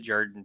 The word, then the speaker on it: Jordan: That's how you pronounced it, Jordan too.